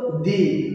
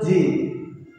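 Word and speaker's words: ぢ: এই দুটোটার ক্ষেত্রে তেমন দেওয়ার ফলে এটা হবে, এখানে আছে চি, হওয়ার কথা ছিল দি, কিন্তু দি না হয়ে হবে জি।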